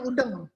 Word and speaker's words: udeng: khas Bali namanya udeng-udeng udang tulisannya udang Tapi bacanya udheng nya adanya di Lombok